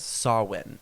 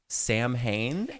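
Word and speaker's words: Samhain: pagan holiday known as sawin it's spelled like Sam Hayne and that's how I was pronouncing it in my head for years that's how I saw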